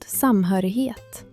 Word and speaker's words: samhörighet: Det uttalas samhörighet med ett tydligt fokus på den andra stavelsen.